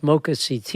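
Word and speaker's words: MoCA CT: Mocha is it pronounced Mocha CT or Mocha Connecticut? Which do you Well, we would like it to be Mocha Connecticut.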